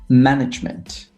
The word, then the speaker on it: management: So we'll say management, performance. Right. So management on the first syllable, performance on the second syllable, for example.